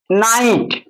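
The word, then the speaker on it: night: নাইট, ফাইট, এফ আই ফি নয়, এফ আই ফাই, আর জিএসটি ট, ফাইট।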